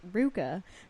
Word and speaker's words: Rivka: Rivka is pronounced Ruka, but where's this from?